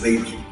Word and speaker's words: Weber: La pronunciación correcta, de hecho, Weber.